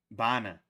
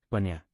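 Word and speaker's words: bainne: Bana. Banya.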